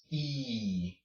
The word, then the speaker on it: y: this is interesting because when you see this letter by itself used as a word it just is pronounced he okay will you see